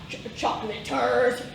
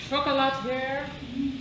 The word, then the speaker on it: chocolatier: I'm sorry, but wouldn't the more prudent question be about like nearby chocolateurs? I am offended by your ignorance, Dan. It's pronounced chocolatier.